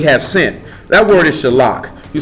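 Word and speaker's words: shalach: That word is shalak. You spell it S-H-A.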